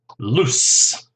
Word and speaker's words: loose: of tight they are loose yes remember the S sound here loose as opposed to lose l-o-s-e this is a z sound okay next one my